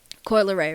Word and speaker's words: Coi Leray: No, because I seen Coi Leray, right?